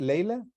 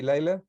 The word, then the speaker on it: Leila: So it's your name pronounced Leila. In Spanish will be Laila.